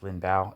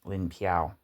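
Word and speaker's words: 林彪: I think it's Lin Bao is how you say that. Now it's written Lin Piao, but here.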